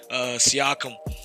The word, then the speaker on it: Siakam: Siakam had a game.